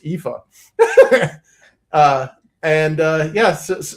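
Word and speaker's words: Aoife: I know that's not what this looks like it spells, but trust me, in the way that Irish mangles, the English uh or the Roman alphabet that is pronounced Epha.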